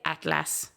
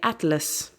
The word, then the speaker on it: atlas: If we look at A, the word atlas, it is spelled atlas, right? But we don't say atlas, we say atlas.